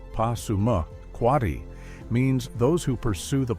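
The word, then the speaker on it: Passamaquoddy: Pasamquati, pronounced Pasuma, Quatti, means those who pursue the Pollock in reference to their fishing.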